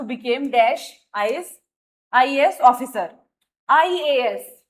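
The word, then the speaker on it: IAS: आई ए एस यानी कि sound क्या आ रही है हमारी, आई, यानी कि एन, आई।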